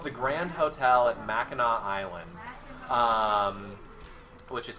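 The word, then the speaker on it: Mackinac: home it's it's it's the Grand Hotel at MAA Island um which is spelled like MAAC um no one finishes their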